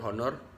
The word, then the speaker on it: honor: that begin with vowels the first letter of the war honor for example is a consonant but it's an pronounce in spite of in spite of its spelling the word honor begins with a vowel sound therefore we use n